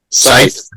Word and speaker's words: scythe: Scythe. Yep, that's how you say it. It's spelt funny.